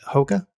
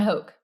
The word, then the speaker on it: Hoke: By chance, was the creative director you referred to at Nike Hoka? John Hoke. John Hoke. I got the name wrong.